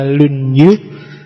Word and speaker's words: Lunyu: Yang pertama judulnya Dasu, yang kedua Lunyu, bacanya misah ya, kalau disambung jadi Lunyu.